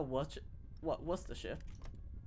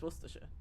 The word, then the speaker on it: Worcestershire: It actually is Worcestershire. It's not Worcestershire. That's not it. It doesn't make sense to be Worcestershire. It's Worcestershire. Because it's from Worcester.